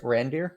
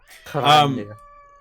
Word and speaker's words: Randir: Randir. yes, reindeer. Yes. Okay. Reindeer. Randir. I'll roll my tongue So a little bit more.